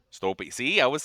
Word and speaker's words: Stolpe: Stolpe. Stolpe. See, I was saying it right. Awesome. Stolpe. Yeah. Stolpe. Yes. Awesome. It's Scandinavian Norwegian. I believe it's originally pronounced Stolpe.